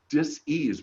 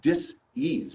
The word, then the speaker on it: dis-ease: It's D-I-S dash ease. So it's dis-ease. It's not disease, and there's some disease that comes that's going to get me. No, when I'm at dis-ease and not having good